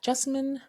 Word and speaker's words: Jessamine: This is your host, Jessamine. Now, I tend to tell people that Jessamine rhymes with specimen, but with a J, and I am a